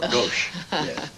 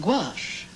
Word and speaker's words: gouache: named uh who oh that's that's gauche I've seen that word before gauche that's what it may be a little gauche but I think it's pronounced gouache and I think it's